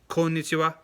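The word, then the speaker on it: こんにちは: Like the good afternoon greeting is konnichiwa, konnichiwa, not konnichiwa. Like, don't do the Valley Girl kind of thing.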